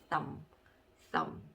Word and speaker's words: thumb: 자, 이 B자가 묵음이라고 해서 소리가 안 나는 경우가 있습니다. 자, 그러면 조합을 해보면 thumb 이런 발음이 되겠죠? thumb 너무 하고 싶은데 그렇게 발음하시면 안 되고 그냥 thumb 이렇게 발음을 해주시면 되겠습니다.